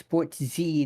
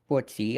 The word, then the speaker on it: ItzSportsy: And I'm being told it's ItzSportsy, not Sportsy.